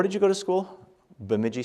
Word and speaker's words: Bemidji: Bemidji State University. And they're like, Bajimmy? What? They couldn't pronounce it, you know.